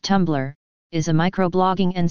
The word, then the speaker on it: Tumblr: tumblr stylized as tumblr and pronounced tumblr is a micro blogging